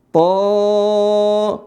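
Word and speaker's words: ط: To 2 harokat. Sin mim. Ya. Nah, perhatikan. Mim. Jadi huruf to-nya ini to dibaca 2 harokat saja. Ada yang tahu alasannya kenapa? Baik, perhatikan, benar ya. Jadi huruf to itu tulisannya seperti ini.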